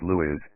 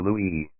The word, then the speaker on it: Louis: Louis Brooks, always pronounced Louis, never Louis.